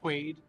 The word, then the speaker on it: Quaid: Quaid by the way Wade Quaid Quaid yeah like Dennis Quaid yeah how do you